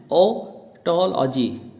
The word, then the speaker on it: otology: तो हमने सीखा कि इसका प्रोनाउंसिएशन है ओटोलॉजी।